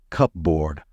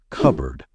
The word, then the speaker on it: cupboard: should be pronounced as cupboard however that's not correct the P should be silent in this one so the right way to say it is cupboard with the p not